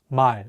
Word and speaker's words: 말: We'll use the word 말, which means word or language. The real consonant is at the end of the word, so it'll be pronounced as L.